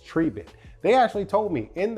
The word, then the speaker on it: Tribit: dog on time Richardson because it's not triet it's not triet it is trivit they actually told me